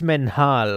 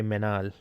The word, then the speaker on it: Menhal: It's Menhal. Okay, so you pronounce the H. Because some people don't pronounce the H. They just say Menal.